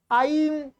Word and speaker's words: ऐं: इसका उच्चारण आपको करना है ऐं ऐं ऐं।